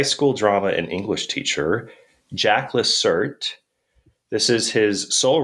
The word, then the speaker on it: Jacques: It's it's spelled Jacques, but he went by Jack.